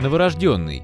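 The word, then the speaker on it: новорождённый: своего быстрого течения новорожденный или новорожденный как правильно говорить литературной нормой является единственный вариант новорожденный все авторитетные источники указывают на то что вариант с ударением на третий слог не является правильным однако правильным он является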